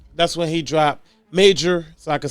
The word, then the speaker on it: Majors: I remember when I really started looking into Jonathan Major, that's when he dropped Major, so I can say it right.